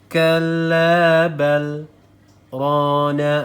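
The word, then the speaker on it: كلا بل ران: Jadi kita berhenti sejenak di bacaan setelah balnya. Kalla bal rana ala qulubihim gitu ya. Kalla bal rana ala qulubihim. Salah apabila kita membacanya langsung kalla bal rana ala, salah ya, karena di sini ada tanda saktah ya. Jadi kita harus berhenti sejenak tanpa membuang nafas ya.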